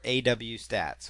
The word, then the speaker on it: AWStats: something called webalizer or aw stats or awstats depending on how you want to pronounce it but there's webalizer or